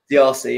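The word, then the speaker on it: Disasi: Is it Dzarzi? Is that how you pronounce his name? Dzarzi, yeah.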